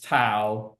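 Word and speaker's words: tau: you're probably familiar with lowercase too is just a Greek letter it's spelled t Au so yeah here sorry one second to is just t a to and that's going to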